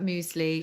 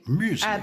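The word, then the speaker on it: Müsli: Muesli, because the umlaut, the UMLAUT, are the two little lines that go above certain vowels in German, and they change the pronunciation. They do. Muesli, but we don't tend to keep them in. Muesli is how it would be, as opposed to muesli. Muesli is with the umlaut. Muesli is without.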